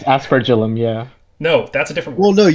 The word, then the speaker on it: aspergillum: So I have to pronounce it as it's written, which is asperagillum, asperagillum, something like that. There is It's aspergillum, yeah.